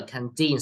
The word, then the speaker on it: canteen: Remember, canteen, second syllable. The main straight is on the second syllable.